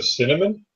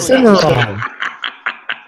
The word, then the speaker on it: Cimarron: The cinnamon? A what? Cinnamon revolver? I don't know how to pronounce that crap. Cinnamon. Yeah, cinnamon. That's it. No, that's a Cimarron.